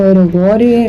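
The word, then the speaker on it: ero guro: Ya, pues la cara de Midori, la estética de Midori y todo lo eroguro, o erogore, no sé cómo se dice.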